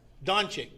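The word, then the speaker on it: Dončić: joel embiid luca and damon leonard luca who pronounce it dominic right there read it don't you don chick that's what i said did i put it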